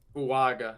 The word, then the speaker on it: Fuaga: Brock Bowers and Talisa fuaga fuaga that's how you pronounce for I've been saying